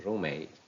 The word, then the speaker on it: roommate: your guess was correct the word room in roommate takes the stress fire in fireworks book